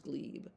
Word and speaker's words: glebe: It's pronounced gleeb.